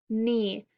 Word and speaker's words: knee: So in KN, the K is silent, so it just says N.